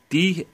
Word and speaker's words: Daemon: Basically, it's spelled D-A-E-M-O-N. That's how you spell it. It's like demon, but with an A, so it's pronounced Daemon. Scanty Daemon.